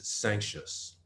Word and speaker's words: Sancious: But the way I pronounce it is Sancious.